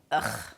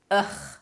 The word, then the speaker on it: Ugh: The pronunciation is ugh, ugh. So for me, the ch sound is really easy to pronounce.